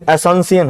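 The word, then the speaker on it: Asunción: इसकी राजधानी जो है एसंसियन है, एसंसियन, है ना। क्या है? पढ़ना ही नहीं है, एसंसियन। इंग्लिश में स्पेलिंग थोड़ी अलग तरीके की।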